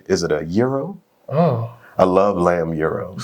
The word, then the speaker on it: gyro: I love is it a pardon my pronunciation, is it a gyro?